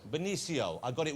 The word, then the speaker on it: Benicio: Am I doing the pronunciation? Is it Benicio, Benicio? How do I say the name correctly? Benicio. Benicio.